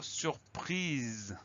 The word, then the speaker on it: surprise: Le mot surprise, il s'écrit à peu près comme il se prononce. S-U-R pour la première syllabe, P-R-I pour la deuxième syllabe. Et à la fin, on va avoir le son Z. Le son Z, il va s'obtenir avec un S simplement, parce qu'il est coincé entre deux voyelles, le I d'un côté